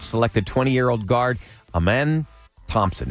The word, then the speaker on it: Amen: 20 year old guard a man Thompson it's spelled like amen but it's Amen and he completed uh